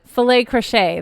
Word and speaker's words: filet crochet: Filet crochet. That's Oh, what it's called. she Filet got it. crochet. It rhymes.